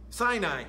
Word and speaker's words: Sinai: Rephidim and came to the wilderness of Sinai. Yeah, kind of the A is silent.